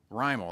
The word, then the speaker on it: Rimmel: Rimmel.